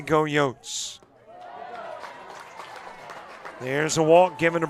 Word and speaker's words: Yotes: I know it is go Yotes, that's the pronunciation.